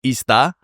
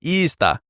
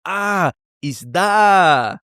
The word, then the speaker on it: isda: And so, for example, isda is fish, isda. And I can remember very clearly, I was with some Filipino friends and I put the stress on the first one. So I said, isda.